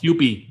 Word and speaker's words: Kewpie: That was one of the So, yeah, Vienna Beef hot dog, panko, the Kewpie Kewpie How do you pronounce it? Kewpie sauce? Kewpie.